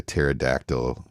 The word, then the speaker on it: pterodactyl: can't you hear a pterodactyl going to the bathroom why not because it's p is silent ah you got to know how to spell pterodactyl for that one his p is silent his p is silent